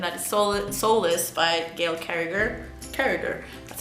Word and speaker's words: Carriger: buy it, and that is Soulless by Gail Carriger.